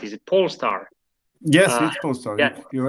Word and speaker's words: Polestar: the amazing company pole star actually am i pronouncing right is it pole star yes yeah you're right yeah thank you uh